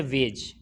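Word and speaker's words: wedge: है इसी तरीके से वेज वेज में क्या हुआ है जैसे जी से पहले यहां भी क्या है दी आया है तो ये साइलेंट हो गया इसी तरीके से हैज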